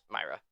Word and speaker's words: Mayra: Myra.